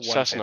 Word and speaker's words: Cessna: That's what the plane was, the Oh, Sienna Cessna. 150. Cessna, sorry, I was Yeah. pronouncing that No, wrong. Cessna 150.